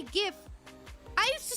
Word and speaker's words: GIF: How do you pronounce GIF? It's GIF. I'm sorry. I'm so sorry. Okay. I am I have been I have been converted not willingly but I literally used to say GIF.